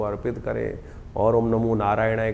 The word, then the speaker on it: नारायणाय: मंत्र का उच्चारण बिल्कुल सही होना चाहिए। कई बार लोग मंत्र का जप करते करते थोड़ी सी गलती कर देते हैं। नारायणा नारायण नारायण नारायणाय नारायण नाराय नहीं है। नारायणाय ओम नमो नारायणाय इस